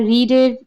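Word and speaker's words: read: ওকে আবার আমরা রিডের রিড রিডের ভিট form আমরা জানি রিডেই হয় এটা। যদি উচ্চারণ হয় রেড।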